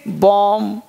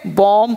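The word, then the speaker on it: bomb: जैसे यहां पर बीडीओ एमबी बॉम डिगी पढेंगे बॉम्ब पढेंगे बॉम्ब है एंड यहां पर चुप हो गया बम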